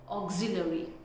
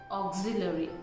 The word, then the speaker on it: auxiliary: It's auxiliary, auxiliary. It's not auxiliary, it's auxiliary, auxiliary. Auxiliary verb you must have heard, right? So it's auxiliary.